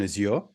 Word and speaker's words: Azure: Carl Gridley: So we sold the stateful nodes version of Elastigroup to a UK FinTech who were in Azure or Azure, depending on how you wanna pronounce it.